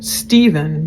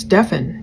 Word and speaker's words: Stefan: I don't like it when people call Stefan Steven, because that's totally wrong. Just in knowing who they're talking about. But Jennifer is more like, almost like she's saying, don't call him Stefan. His name is pronounced Stefan.